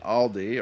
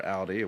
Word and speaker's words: Aldi: And Aldi, or Aldi, whichever way you pronounce it, for those who want to pronounce